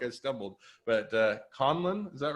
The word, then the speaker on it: Conlon: but i feel like i stumbled but uh conlon is that right that's correct conlon yes all right um and rob is for